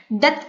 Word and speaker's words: doth: यहाँ पे देखिए DOTH, डॉट का मीनिंग इसको हम क्या प्रोनाउंस करेंगे, डथ प्रोनाउंस करेंगे.